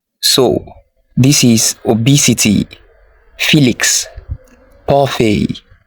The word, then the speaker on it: parfait: Do you say parfait? It's a French word and it's not pronounced as parfait. It is parfait.